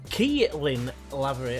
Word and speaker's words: Keelan Lavery: second round to beat them 1-0, thanks to Keelan Lavery.